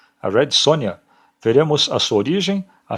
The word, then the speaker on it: Sonja: origem polonesa e ucraniana Daí vem a pronúncia do seu nome escrito com J mas pronunciado com i portanto Red Sonia a pronúncia Red Sonja é errada uma vez que o J tem som de i em seu idioma de origem ela lutava contra o